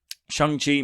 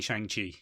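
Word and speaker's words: Shang-Chi: anything wrong with saying shang chi okay i think that's how it was originally pronounced i don't think it matters ben we are irish we say shang chi um have you ever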